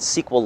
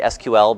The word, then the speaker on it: SQL: we're gonna work with libraries called pandas and sequel light and and it's pronounced sequel by the way some people say SQL but I think you can say both but